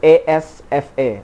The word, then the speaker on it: Asfa: Asfa is the name, it's spelled A-S-F-A.